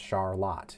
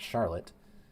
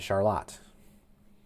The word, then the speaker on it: Charlotte: It is pronounced Charlotte. It is not Charlotte. It is Charlotte.